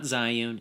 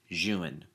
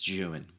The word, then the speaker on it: Zhiyun: I didn't remember that in the video not Zune it's pronounced Jan so anytime I say that it's junan back to the video did send me the